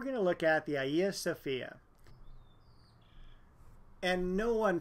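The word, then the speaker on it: Hagia Sophia: Italy then we're going to look at the Ayasofya and no one pronounces the name of this church correctly you'll hear it all sorts of different ways but it is officially ieo Sophia the name translates into holy wisdom the church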